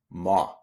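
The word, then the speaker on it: mò: But if the O has the accent grave on top of it, you just change the pronunciation. And instead of being a closed sound, it's going to be an open sound.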